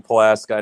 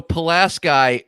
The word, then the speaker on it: Pulaski: have a town called pulaski p-u-l-a-s-k-i the same way it's spelled in new york but in wisconsin we call it pulaski you call it pulaski